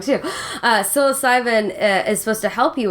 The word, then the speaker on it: psilocybin: other side you know well I've heard since psycho stealin from sorry yeah I'm pronouncing that wrong too psilocybin is supposed to help you with that and